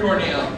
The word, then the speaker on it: Corneil: name because I like his name rhymes with ve and real thank you and real cuz this guy keeps it real ladies and gentlemen Cornel thanks everybody how you